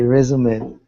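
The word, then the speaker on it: résumé: don't know how to sing like you okay resume and at least a list of personal employment history and history and qualifications exactly right very good and that word comes to us from French so it's not resumed its resume but you said very nicely all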